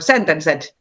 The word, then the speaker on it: Sentenced: But Taneli is probably like most well known from the legendary Finnish band Sentenced, or Sentenced, as we Finnish people would pronounce it.